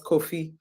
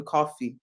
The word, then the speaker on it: Kofi: he's late and he his name was Kofi and a lot of times people Mi mispronounced his name and would call him coffee and he always said